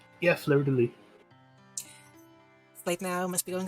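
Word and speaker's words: fleur-de-lis: I know it's French, you just like don't say the last letter. Yeah, fleur de lis.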